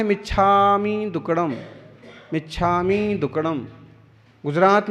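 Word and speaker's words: मिच्छा मि: मिच्छामी नहीं है, मिच्छा में, मिथ्या में, मेरे दुष्कृतम मिथ्या दुक्कडम। मिच्छामी दुक्कडम बोलेंगे तो उच्चारण ही सही नहीं हुआ भारतीय प्राकृत भाषा के हिसाब से।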